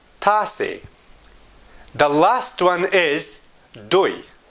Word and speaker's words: تاسې: You can pronounce this pronoun as T A S A Y. تاسې.